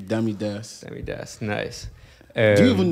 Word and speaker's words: DammyDaas: Stage name, DammyDaas.